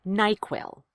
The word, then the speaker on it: NyQuil: and helps you sleep equals stress on both syllables it's treated like a compound word nyquil nyquil very nice let's